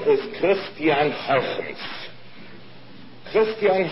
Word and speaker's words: Huygens: I'm going to pronounce it the way he did.